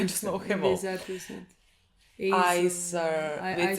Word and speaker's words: Heiter: Heiter. It's spelled E-I something, but she says A.